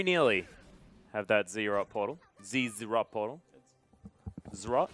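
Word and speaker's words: Zz'Rot: Z-Rot portal. Zrot? It's Zrot. You like Zrot? No, I don't like it. That's how it's pronounced. Ah. Well, I also think that I shouldn't be saying ZZ-Rot because we say Z.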